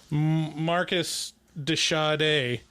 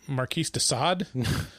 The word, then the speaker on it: Marquis de Sade: yeah you know that that quote from uh marcus de sade and uh you know and somerset's like marquis de sade because it's spelled s-a-d-e and there was a very prominent